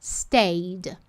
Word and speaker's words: stayed: Stayed. Stayed. A gente não pronuncia esse E.